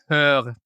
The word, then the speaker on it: Höör: No, it's Höör, H-Ö-Ö-R. So. Okay. Höör, yeah. Yes, like Malmö.